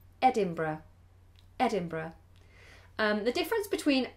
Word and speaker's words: Edinburgh: so do look out for that can you pronounce the word the tap the city rather in Scotland Edinburgh Edinburgh Edinburgh um the difference between England and Britain